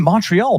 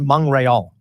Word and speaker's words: Montreal: How do you say it? Like how do the French? When I went there, Montreal is how they say exactly it. Montreal. I anglicized it Montreal.